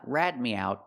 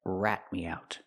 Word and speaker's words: rat me out: That's to rat me out. Not rad me out, but rat me out.